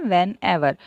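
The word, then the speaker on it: whene'er: अब यहाँ पे आप देखो व्हेन एवर, यहाँ जब मैम रीड कर रहे हैं ये स्पेलिंग WHEN, फिर जो इन्वर्टेड कॉमा जैसा जो आपको लग रहा है ऊपर और फिर है ER, तो इसको हम प्रोनाउंस करते हैं व्हेन एवर।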